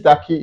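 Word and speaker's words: Darki: one my name is daki it's spelled d-a-r-k-i obviously you know it's double e and I'm so so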